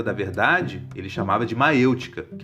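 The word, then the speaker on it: maiêutica: Esse processo de autodescoberta da verdade, ele chamava de maêutica, que é uma palavra grega que significa parto de ideias. Maêutica se escreve assim: M-A-I-E-U-T-I-C-A, acento circunflexo no E.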